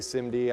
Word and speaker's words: SIMD: a you know that's when I say Cindy I'm I'm pronouncing simd this is something called